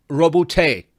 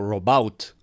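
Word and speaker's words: Roboute: nombre se pronuncia como Robuté. así como tirada al francés, Robuté Gilliman. Y a ese sí que nunca le hubiese achuntado. Yo pensé que era algo así como Robout.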